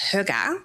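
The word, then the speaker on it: hygge: So, it's actually a Danish and Norwegian word. uh that's pronounced huga which well I mean if you're Danish or Norwegian you'll probably correct me because I'm probably not saying it perfectly right but close um and it's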